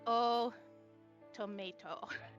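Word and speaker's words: Otomate: Yeah, I know, it sounds like tomato because that's how you're supposed to say it. It's spelled automate, but... Oh, tomate. Mate. But Not the but tomates. the way they say it is oh tomato.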